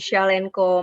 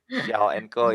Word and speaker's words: Shawlnco: Ya, aku dari Shell& Co, Mas Bona. Oke, Pengucapannya seperti Shell aja. Shaw& Co Bukan ya. Shell, Oke.